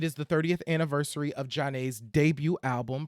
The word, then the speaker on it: Zhané: cuz one it is the 30th anniversary of Jan's debut album pronounced Jan and um we were like Duos